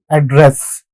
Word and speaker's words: address: But when it comes to this particular word, to speak, to, the stress would be in the second syllable. Address.